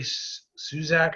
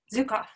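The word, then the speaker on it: Zukav: Gary Suzak, I always say his name wrong. The Seed of the Soul. Zukov.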